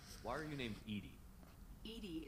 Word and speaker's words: EDI: are you named edie edie is the phonetic pronunciation of edi that is an acronym for enhanced defense intelligence well thanks for making